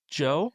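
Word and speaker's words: Djo: Um and what about the I I've never It's Joe. Do Joe. Yeah, it's Joe. I Yeah, Joe. Joe. Joe. The D is silent.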